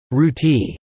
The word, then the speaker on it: roti: Roti, pronounced Ruti in Durban, was initially introduced to South Africa by Indian migrants during the 19th century, and subsequently became incorporated into Durban cuisine.